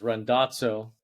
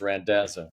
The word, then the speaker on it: Randazzo: Kind of, the Italian way is Randazzo, so you're kind of there. And the Americanized way is Randazzo.